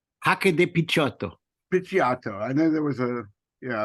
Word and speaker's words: Picciotto: Picciotto.